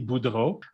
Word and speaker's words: Boudreau: little bit more about you and pronouncing your name correctly because i just tried and didn't do a good job sure can so my name is budo um what do i